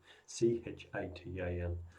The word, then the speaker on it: chitin: Not made of cellulose, it's made of something called chitin, C-H-I-T-I-N. C-H-I-T-I-N. Pronounced chitin or chitin, whatever way you want to pronounce it.